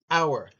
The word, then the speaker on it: hour: Okay, an plus noun starting with a silent H, an hour.